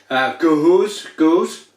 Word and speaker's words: Gose: This is an interpretation of Gose, pronounced, pardon me, don't pronounce it like that. Gose, a traditional German style wheat beer brewed with coriander and salt.